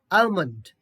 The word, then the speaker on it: almond: okay now this one l is silent here and the pronunciation is almond almond almond l is